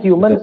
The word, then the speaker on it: HMNS: Bacanya Humans ya kan, tulisannya HMNS.